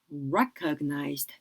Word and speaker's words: recognized: Honored, honored, career, career, achievement, achievement, recognized, recognized. 자, recognized 같은 경우는 이름절 강세 들어가는 거죠.